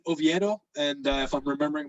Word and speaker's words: Oviedo: oh by the way that kid you pronounce it oviedo and uh if i'm